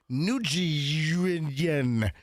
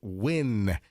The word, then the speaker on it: Nguyen: I used to think it was pronounced Nguyen, but Martin Giles was the one that told me that no, it's pronounced Win.